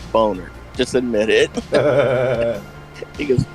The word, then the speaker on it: Boehner: like come on man it's not pronounced bainer it's boner just admit it he